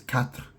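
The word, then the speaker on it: quatre: interesting numbers right because four is kat right it's katra or something like that um how's it spelled I think it's maybe like q u a t t r e or something. I don't know what the but it sounds like cat.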